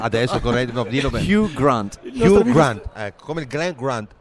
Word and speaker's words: Hugh Grant: Hugh Grant. Senti, ecco, ridillo tu. Io all'inizio l'ho detto con l'accento americano, no, mi sono corretto. Adesso corretto, dillo bene. Hugh Grant, ecco, come il Glenn Grant, così si chiama.